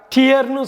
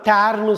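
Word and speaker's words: tear: இப்போ டிஇஏஆர், டியர்னு சொல்லலாம், டேர்னு சொல்லலாம்.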